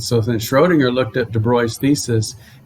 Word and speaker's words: de Broglie: mathematical idea combined with de bruy that's how you say his name it looks like de broglie it's called de bruy he brought in the